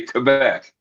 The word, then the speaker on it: Quebec: That's the only proper way to say it is you got to say Quebec.